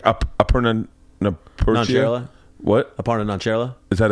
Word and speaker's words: Aparna Nancherla: Aparna Nancherla.